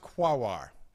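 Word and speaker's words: Quaoar: Quoir, Sedna, and Orcus. Okay. Yes, it is pronounced quawar.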